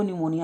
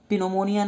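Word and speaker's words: pneumonia: पी लगा हुआ है लेकिन इसको निमोनिया ही पढ़ते हैं, पी साइलेंट रहता है, तो इसको आप ध्यान रखना। निमोनिया, पिनोमोनिया नहीं होता है, निमोनिया होता है, ध्यान रखना, ठीक है।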